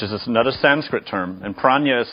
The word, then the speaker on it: prajna: So there's some disagreement about how that J and A sound is made, but commonly it's nya.